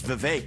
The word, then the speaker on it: Vivek: his on-air rapping skills my name is Vivek it rhymes with cake with candidates fighting for